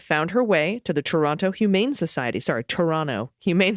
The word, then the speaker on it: Toronto: She was a rescue farm stray that found her way to the Toronto Humane Society. Sorry, Toronto Humane Society. I always pronounce that T and I always get emails for it.